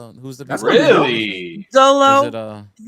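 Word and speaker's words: Xolo: He did not say Cholo, did he? Cholo? He did. It's Cholo. That's how you. That's His how name you is pronounce it. Zolo.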